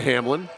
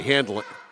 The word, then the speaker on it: Handlin: laid it off to Hamlin excuse me Handlin Handlin hn l n that's pronounced Handlin now stubbert turn around